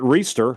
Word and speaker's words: Reester: Jared Reester who says his last name is pronounced like Easter with an R in the front of it.